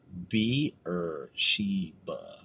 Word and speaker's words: Beersheba: Well, it says right here, well, this phonetic pronunciation is they're saying it's Beersheba. Beersheba? Beer? Oh, I see. Beer. Not bear. It's beer. Beersheba.